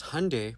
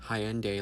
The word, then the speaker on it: Hyundai: our people because Hyundai, pronounced like Sunday, not Hyende like you're saying, is a Korean company.